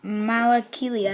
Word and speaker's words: Malakili: And then the final figure, and probably the most exciting out of the minifigures, is Malakilia, I'm pretty sure it's pronounced, aka the Rancor Keeper.